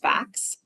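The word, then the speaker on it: PHACS: housing Advanced Clinical Services which is pronounced facts this isn't one of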